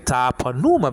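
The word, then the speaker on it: πνεῦμα: was and then K Puma because these old older Bible teachers used to say just Numa no but it's Puma I had to fix that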